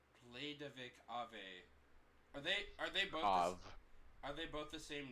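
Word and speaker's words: Aveh: Av. Are they both the same name? Oh, it's called Av. Is that how it's pronounced? Yep.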